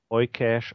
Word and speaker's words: Eucash: Das wird halt ganz mit genau. Eucash auf Englisch ausgesprochen. Nicht einer schreibt hier mit EU-Cash. Mit C-A-S-H.